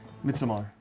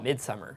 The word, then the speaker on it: Midsommar: - Is that how you say it? - Midsommar, Yeah - I've been saying Midsummer.